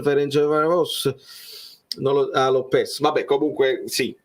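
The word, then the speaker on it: Ferencváros: Poi dopo si pronuncia, fammi vedere come lo stavate dicendo, si pronuncia Ferencvaros.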